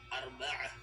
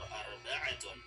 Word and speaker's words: arba'ah: Pero kapag hindi po natin bibigkasin, kapag may mga salita na nagtatapos sa taul marbuta at hindi na natin bibigkasin ang patinig na nakalagay sa kanyang dulo, ang taul marbuta ay magiging ha.